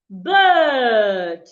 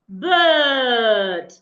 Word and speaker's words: bird: Not the same pronunciation as well. An average person will pronounce these two words the same way. And that is wrong. An average person will naturally pronounce the two words the same way. You hear bed, bed. No. The first one, the I and R there, also should be sounded as a long sound.